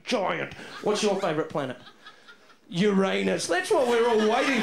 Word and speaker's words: Uranus: You're calling a planet Uranus. Yes, well, what's wrong with that? And actually, it's pronounced Uranus.